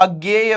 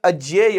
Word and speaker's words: अज्ञेय: है बेटा इसे आप अज्ञेय भी पढ़ सकते हैं कोई दिक्कत की बात नहीं है हालांकि इसका शुद्ध उच्चारण अज्य य होता है क्योंकि ज्ञ जो है यह ज धन य से बना होता है यह मैंने आपको